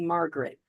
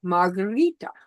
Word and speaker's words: Margherita: But because people couldn't pronounce it correctly and they were calling me Margaret. My name is not Margaret. And how do you say it in Italy? It's Margherita.